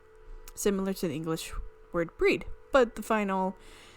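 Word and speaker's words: Bríd: It's pronounced with a long E. Breed. Similar to the English word breed, but the final D is like D in Bridget.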